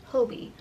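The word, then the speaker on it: Hobbii: That's the only thing about hobby is a lot of their stuff Oh, I said it wrong. Hobie.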